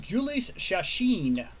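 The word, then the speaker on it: Jhoulys Chacín: And that is pronounced Julius Chacin will be the pitcher.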